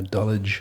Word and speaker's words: Dulwich: Dulwich says that. Yeah, Dulwich. Dulwich? Even though it's spelled Dulwich.